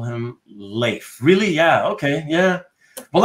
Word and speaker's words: Leif: Well, like I said, though, TJ, a friend of mine is same name, but it's pronounced life. So, yeah, I guess it can go both ways.